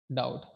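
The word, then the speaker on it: doubt: बाद आता है टी, बी के जस्ट बाद क्या आता है? टी। तो इस कंडीशन में ये क्या हो जाता है? साइलेंट हो जाता है, साइलेंट बी। जैसे हमारा एक वर्ड है डाउट, इसको हम पढ़ते हैं डाउट, ना कि डाउट या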